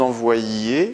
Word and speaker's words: envoyiez: Et ça se prononce, il attend que vous envoyiez le contrat. On insiste bien sur le YI.